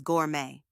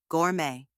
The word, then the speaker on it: gourmet: like and gorgeous and the second part is May just like the month of May now say it with me Gourmet one more time Gourmet great job here's a